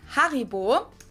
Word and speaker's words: Haribo: We pronounce it Haribo. This is a great example of why we can't pronounce a word exactly the same in two languages.